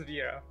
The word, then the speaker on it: Vrow: You pronounce the V first and then Row. Yes. Vrow. That is how it's meant to be. Not Row. not Row or Crow or anything.